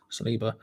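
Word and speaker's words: Saliba: going on you know um thoughts on william celiba which is how to pronounce in geo celiba he looks great paul playing center half arsenal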